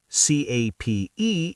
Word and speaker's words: cape: AC P is cap. C A P E is cape. The E is silent but powerful.